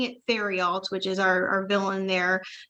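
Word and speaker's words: Therriault: to pronounce his name because I know it's French. So I was saying it Theriault, which is our villain there, but I believe it's Tarot.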